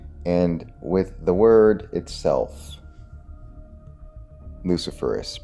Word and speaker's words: luciferase: And with the word itself, luciferase, because that is the correct pronunciation. Confirm that. Luciferase, like ace.